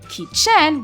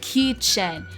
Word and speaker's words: kitchen: So for example like kitchen as I told you it's not kitchen where the chen has the uh stress on it but it's kitchen where the key which the first syllable has a little bit more emphasis but for verbs they emphasize on the second syllable.